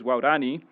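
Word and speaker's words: Waorani: The endonym for this group is waurani, which is wow, the word for person, and dani, which is the third plus plural.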